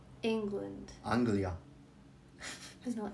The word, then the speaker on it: Anglia: Anglia.